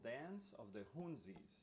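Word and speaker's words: Hounsies: The last piece I'm going to play by Franz Cassou is his piece called Dance of the Hunzis, and that's spelled H-O-U-N-S-I-E-S, Hunzis, Dance of the Hunzis.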